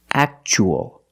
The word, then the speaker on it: actual: So the T is pronounced ch, actual.